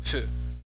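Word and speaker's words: ふ: basically like a combination of F and H, like in between f and h. It's like you have your lips partially closed and you're just blowing air out. Just like that. That's how you pronounce fu.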